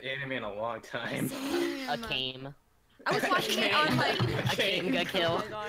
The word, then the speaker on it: Akame: A-K-A-M-E? Akame, right? Yeah, Akame. I haven't watched that anime in a long time. Akame.